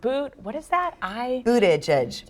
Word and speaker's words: Buttigieg: Mayor Pete's last name is pronounced Buttigieg.